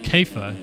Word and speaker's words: Kaiafa: And Ben Kaiafa, or Kaifa, I'm sorry, I forgot about this. He's New Zealand, I think, and they say that it's pronounced Kaifa in New Zealand.